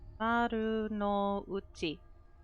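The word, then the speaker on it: Marunouchi: Maru no Uchi.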